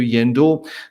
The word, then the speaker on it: Yendor: Very simply, yen, like in Japanese yen, the currency, and door, like the door that you come through, Yendor.